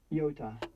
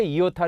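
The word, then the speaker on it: ἰῶτα: 하지만 단독 으로 나타날 때 는 주로 ' 이 ' 소리 로 들립니다 . 그러므로 특별 한 이유 없이 영어 'eye' 처럼 발음 하는 것 은 유치 하고 잘못 된 행동 입니다 .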